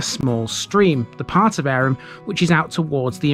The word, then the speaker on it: Averham: obvious being its name yes it really is arum the pronunciation is likely a hangover from medieval times